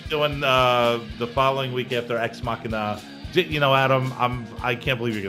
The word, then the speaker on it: Ex Machina: How do I pronounce this? That's Ex Machina. Ex Machina.